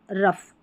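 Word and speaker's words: rough: लाफ, कफ या कॉफ, लाफ, कॉफ, इनफ और रफ। यहाँ पर जो GH है ना, इसको फ पढ़ा जा रहा है।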